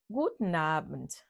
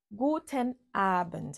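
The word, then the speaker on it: Guten Abend: courante en allemand l'autre salutation en allemand c'est gouten Abend gouten Abend ça s'écrit en deux mots aussi gouten AB très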